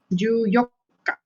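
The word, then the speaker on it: 十四日: But when it comes to the 14, this one you have to remember 14. It uses the same way of pronouncing as here. It uses the same pronounce as here. Here is yokka. Yoka. So when it comes to 14, it will be like ju yokka. You don't have to add nichi.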